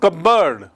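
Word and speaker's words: cupboard: actually कबर्ड है और उसकी स्पेलिंग देखिए cup plus बोर्ड but pronunciation is कबर्ड तो यहां कोई बॉक्स नहीं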